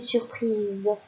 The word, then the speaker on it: surprise: ou de de S et bien d'un seul s car ici nous avons voyé la gauche et à droite plus un seul s ça fait le son Z deuxième mot on dit